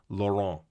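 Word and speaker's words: Lorient: I I looked this up via the Google pronunciation guide, Lauron. Yeah. Okay. Laurent.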